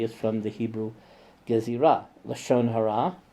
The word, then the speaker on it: lashon hara: Lashon hara, or in Yanina is pronounced Lashon ara, which is malicious gossip.